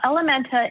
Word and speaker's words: Ellementa: Well, Ellementa is spelled E-L-L-E-M-E-N-T-A. That is L, which is French for her. Menta, Spanish for mind, her mind.